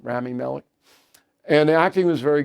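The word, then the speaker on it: Rami Malek: So, I went to see Nuremberg last night, the movie, Russell Crowe and uh Ramy Marik, I think that's how you say his name, Ramy Malik.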